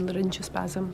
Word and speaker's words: laryngospasm: side effects include bronchospasm, and now, forgive my pronunciation of this, is it laryngospasm? Bronchospasm and laryngospasm.